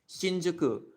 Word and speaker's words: Shinjuku: So shinjuku is pure Chinese. It's Chinese pronunciation. The pronunciation of Japanese that's borrowed from China. So it's shinjuku.